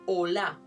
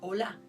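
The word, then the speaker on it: עֹלָה: El holocausto viene de una palabra hebrea que se escribe olá, O-L-A-H, olá.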